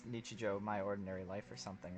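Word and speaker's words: 日常: Pretty sure it's Nichijou, My Ordinary Life or something, right?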